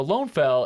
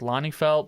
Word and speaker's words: Lønnefelt: fun so yeah so lone fell is what he got when he translated it to Norwegian um and so and I think it's pronounced like Lonnie felt but I was like